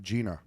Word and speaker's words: Jeanna: out a little bit oh it's pronounced like Gina oh Gina yep I said Jenna yeah I was just looking at the responses on the questionnaire and she put that in parentheses well I should know that anyways Gina pronounced like Gina I'm not going to screw it up twice spelled like and pronounced like Gina yeah if you can read